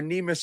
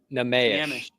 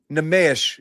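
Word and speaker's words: Neemias: based on what we're seeing right now are Neimus and Cornet, which is crazy, right?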